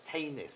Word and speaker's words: Tanis: VI called Tanis and her name is spelled t a n i s and I was saying oh that's like Janice Janis and it she mess it's tenis it's like um uh Scandinavian name very talented very talented